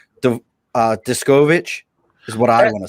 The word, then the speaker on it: Deskovic: to say the uh diskovic is what i want to say that's pretty close uh the uh the pronunciation is descovit deskovic all right cool see um